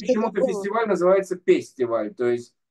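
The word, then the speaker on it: פסטיבל: фестиваль называется пестиваль, то есть П читает, Ф читается как Ну, П, хорошо.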